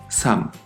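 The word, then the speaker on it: 삶: la palabra sham vida pero escucha bien sham la l de aquí no se pronuncia solo la m cada palabra es distinta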